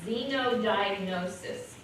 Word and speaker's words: xenodiagnosis: so we're going to talk about it is xenodiagnosis and it's x-e-n-o Xeno diagnosed you take a